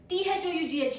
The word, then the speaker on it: thought: Pro tip is OUGH sounds like AW.